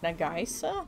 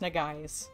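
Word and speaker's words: Nagaise: like japanese inspired name and i was like nagaisa negaisa but it was not it's it's just pronounced na guys i think i'm quite sure why did i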